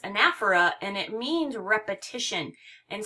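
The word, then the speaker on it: anaphora: might be of interest to you um it's pronounced anaer and it means repetition and so there's effective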